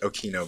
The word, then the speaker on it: Occhino: om OCC HIO know my last name is pronounced okie no by the way for